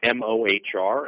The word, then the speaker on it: Mohr: kind of funny it's mohr it's it's pronounced just like more but my website is